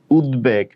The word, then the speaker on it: উদ্বেগ: Usually আমি কিন্তু তোমাদেরকে বলেছি বফলা থাকলে উচ্চারণ হয় না, কিন্তু এটা ব্যতিক্রম, বফলার একটা ব্যতিক্রম রুলস মনে করতে পারো। গ দ ব এই 3টা বর্ণের সাথে যদি বফলা থাকে তাহলে সেই ক্ষেত্রে উচ্চারণ হবে।